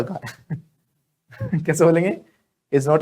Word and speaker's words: belle: बोलो, Sonia madam is नॉट अ बैल, कैसे बोलेंगे? Sonia madam is नॉट अ बैल। तो कोई ब्यूटीफुल लेडी हो उसको बोलते बैल, स्पेलिंग इसकी BELLE होती है, लेकिन उसको बोलते बैल।